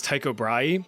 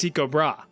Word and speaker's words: Tycho Brahe: Now trust me, for the life of me, I really want to pronounce this guy's name as Tycho Brahe, but apparently the proper Danish pronunciation is Tycho Brahe.